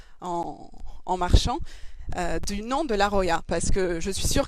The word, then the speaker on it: La Jolla: je suis sûr que la plupart d'entre vous disais la geôle à avant de mon temps de le dire c'est normal mais ça se prononce à l'espagnol et pourquoi parce que